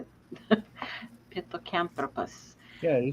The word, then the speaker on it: Pithecanthropus: Pithecanthropus.